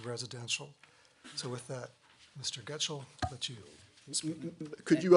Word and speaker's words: Gutshall: And your name for the record is, you told me earlier, is Jacob Gutschall. That's, for the record, is spelled Gutshall, Jacob Gutschall.